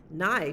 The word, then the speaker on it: nigh: nigh sleep is near nigh just rhymes with sky and it means near